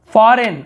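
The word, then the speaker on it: foreign: फॉरेन, आपने फॉरेन पढ़ा होगा, विदेशी, फॉरेन, फॉरेनर बना हुआ है, तो यहाँ पर भी जी लिखते हैं लेकिन पढ़ते नहीं है, फॉरेन।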